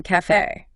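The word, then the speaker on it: café: with the acute accent like in Cafe ah Cafe exactly it signals a closed e sound a crisp and bright e then we have the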